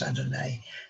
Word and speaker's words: Adonai: Mais quand l'homme apparaît, un deuxième nom de Dieu apparaît, Hachem, qu'on prononce Adonai dans les prières.